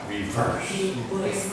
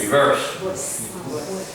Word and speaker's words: reverse: Remember the B sound, reverse. B, this is something to practice. Everybody wants to say worse, worse, worse. We don't. No. B. Verse, verse, verse. Reverse.